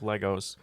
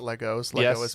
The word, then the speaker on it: Lego: you made out of legos um very very important question if uh yes kevin pronounced lego not legos there are tiny traps